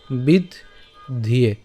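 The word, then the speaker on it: বিদ্ধ্যে: অথবা বলেছিলাম যে কীভাবে উচ্চারণ করব, বিদ্ধিয়ে।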